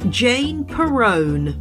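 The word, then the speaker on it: Jane Perrone: I am your host Jane Peron it rhymes with Stallone in this week's show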